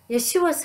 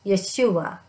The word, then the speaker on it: Yeshua: to share with you about my favorite nonprofit yeshua's house ye-es 8ua it is pronounced Yeshua Yeshua is the Hebrew name for Jesus while